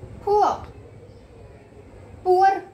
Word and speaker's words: poor: Now children, full, empty, inside, outside, high, low, heavy, light, rich, poor. Poor नहीं बोलना, poor नहीं बोलना, poor, poor. ये जो आपका लास्ट में आर है, this should be silent. Okay, poor.